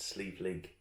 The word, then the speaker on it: Sliabh Liag: reads his efforts slab lag distillery it's that pronounced sleeve league okay it's in gaelic it's an irish and